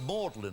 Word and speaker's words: Magdalen: It's pronounced Mlin, of course. Cambridge and Oxford both have a Mlin College.